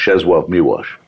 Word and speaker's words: Czesław Miłosz: Of the W's being, the being a special L in Polish. That's so you actually pronounce, it's spelled Czesław Miłosz, but it's pronounced Czesław Miłosz.